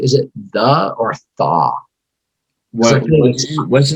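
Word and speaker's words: Tha Carter: that carter or no i'm sure it's just the carter yeah the card right okay yeah yeah my caucasity prevents me from being able to like fully you know um but i was listening to the carter too and i was like oh my god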